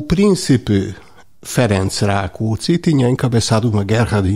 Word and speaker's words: Rákóczi: Acontece que Rákóczi, com o acento sempre no húngaro na primeira sílaba de cada palavra, neste sentido é um nome histórico. O príncipe Ferenc Rákóczi tinha encabeçado uma guerra